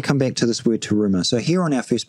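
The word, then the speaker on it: תרומה: I, one of the best way to articulate resh is that you got to learn to roll your R's. So some people find this quite difficult. Some people find it very easy. So it's terumah, terumah.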